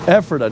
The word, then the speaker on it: Ephrata: Ephrata.